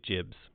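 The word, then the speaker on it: gibs: a concept in there called Jibs or Gibbs. There was sort of a GIF battle over how that was supposed to be pronounced. But we are now... Jibs. You say Jibs.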